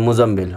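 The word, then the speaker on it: مزمل: मुज़्ज़म्मी, लाम पेश लु, मुज़्ज़म्मिलु, यूजुअली लोग क्या बोलते हैं, मुज़म्मिल। मुज़म्मिल असल में ये सही प्रोनाउंसिएशन नहीं है। सही प्रोनाउंसिएशन इसकी क्या है, मुज़म्मिल। अगर किसी का नाम भी होता है मुज़म्मिल तो उसका ऐसे नहीं बोलना चाहिए मुज़म्मिल, मुज़म्मिल नहीं, उसको बोलना चाहिए, सही तरीक़ा है मुज़म्मिल, मुज़म्मिल।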